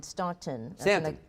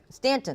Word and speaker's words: Staunton: a half now in stockton stanton stanton i'll always say that and i always correct you yes thank you i